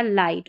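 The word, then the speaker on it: light: क्योंकि नियम क्या है कि आई के बाद में अगर जी एच टी आता है तो आई का उच्चारण जो है आई होता है और जी एच साइलेंट रहता है।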